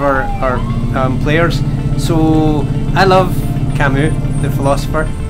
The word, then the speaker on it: Camus: love Kamy the philosopher but I read his work before I knew how to pronounce his name oh so quite an early stage I did realize that I was wrong it was already set in my head you know I was like he's cameras that's his name he